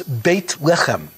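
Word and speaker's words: בית לחם: Bethlehem, which in Hebrew, the meaning of the name is the, how it's pronounced, is Beit Lechem.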